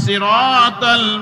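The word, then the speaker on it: صراط: সারা জীবন সদ থেকে যদি আমরা সদের জায়গায় উচ্চারণ না করে সিন পড়ি, তাহলে সিরাত শব্দের অর্থ রাস্তা, আর সিরাত শব্দের অর্থ গজারির লাঠি।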